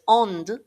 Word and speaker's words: onde: So you're never really going to say ondi and noiti, and it's not onde either. Ond, noite.